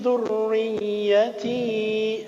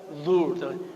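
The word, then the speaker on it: ذريتي: Wa aslih li fi dzurriyyati. Semuanya. Semuanya bertasydid ya, ra ya, coba. Dzurriyyati. Makan Bapak Ibu. Dzurriyyati. Semuanya muraqqaqah, dibacanya tipis ya, bukan dzur. Dzur karena ronya kasrah ya.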